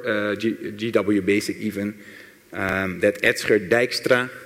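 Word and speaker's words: Dijkstra: basic even that extra Dykstra that's how you pronounce that at skip Dykstra I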